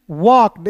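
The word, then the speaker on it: walked: यहां पे एल को साइलेंट के का क और ए का उच्चारण औ के रूप में वॉक और इडी है दोस्तों।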